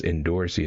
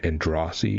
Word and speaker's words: Androssi: And either way, everyone still says Endorsi instead of like what Androssi is it supposed to be, or whatever, like the actual name or something that SAU did on like Twitter or something.